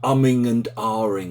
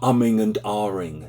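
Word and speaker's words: umming and ahhing: she kept asking me why is there an R sound in it when there's no R in the spelling I replied by saying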